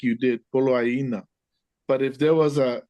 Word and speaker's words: Poloaina: Ole mea lea na poloaina. Poloaina. The double I, how do you pronounce that? Exactly how you said it.